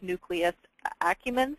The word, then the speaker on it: nucleus accumbens: doesn't have access to cool technology that measures nucleus accumbens, is that the pronunciation, Gary?